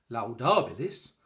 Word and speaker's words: laudabilis: a separate entity, and for the first syllable of laudabilis, I shall pronounce the 2 parts of the diphthong as equal lengths, like so. Et laudabilis.